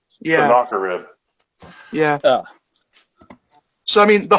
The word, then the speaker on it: Sennacherib: I can never pronounce his name right. Sennacherib. Yeah. Sennacherib.